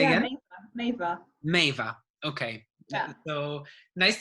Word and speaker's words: Meava: your experience because well, first, how do I pronounce your name? Let's start with the It's Meava. basics. Say Yeah, again? Meava.